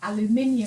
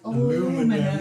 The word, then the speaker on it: aluminium: Or like aluminium foil, and they were like, aluminum.